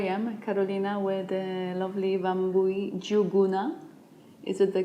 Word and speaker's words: Wambui: and Here I am Carolina where the lovely bambooee Zhu goona it is the correct pronunciation of your hecticness name perfect so we